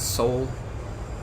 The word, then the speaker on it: Seoul: things be nice well I think they get like Linguistics sheets given to them so I'm just going to assume that they're right on that one and that it is actually pronounced Soul there's a wicked name